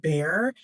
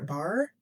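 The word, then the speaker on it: Bhaer: I'm going to pronounce it bear. B H A E R. I'm going to pronounce it bear. Bar. Bar. Bear. Maybe it's Bar.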